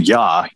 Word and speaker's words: Ea: referring to the acadian yah ea is how you you spell his name ya is how you pronounce it which leads me down